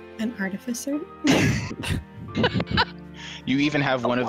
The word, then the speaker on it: artificer: it said both ways and it's art it's artificer i i will fight anyone who pronounced that i second i seconded that it's